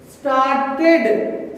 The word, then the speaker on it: started: Started, started, started. See that the tongue is released and comes back. Started, started. It ends with id sound.